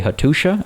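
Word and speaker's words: Hattuša: makes a sure sound so this is actually hatusha i might still be getting it wrong and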